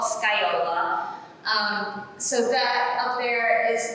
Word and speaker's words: Scagliola: Okay, but this is the pronunciation, so forget about this G, and forget about that L, just think Scagliola, that's it.